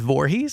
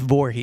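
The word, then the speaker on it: Voorhees: his last name is Vorhees Jason Vorhees like New Jersey like New Jersey spelled the same way and everything and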